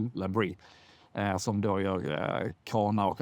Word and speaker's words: Labrie: kanadensiskt bolag som jag tror heter Labrie, eller uttalas Labrie.